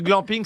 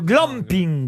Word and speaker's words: glamping: La première syllabe, puisque c'est un mot valise, à votre avis, elle vient d'où le Glaner. Alors, mais non, le glamping. Gland. Glambe. Bah, Alors, oui, mais vous le sans- prononcez comme si c'était anglais aussi. C'est du camping. Le glam. Ah, oui, Glamour. C'est le camping glamour.